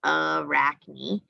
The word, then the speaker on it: Arachne: we have arachne and they show you how to pronounce it arachne and she's a weaver